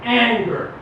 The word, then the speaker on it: Angehr: my name is and eager pronounced just like the emotion but it's felder so